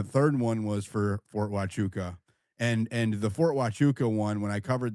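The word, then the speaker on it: Huachuca: I'm talking about just go search Fort Hachuka it's spelled hua c hu ka um or CA I'm sorry, not K Fort Wuka on my timeline and you'll see the post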